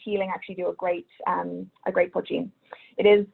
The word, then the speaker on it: poitín: And we do also, of course, have Irish poitín.